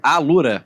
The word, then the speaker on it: Alura: É Alura?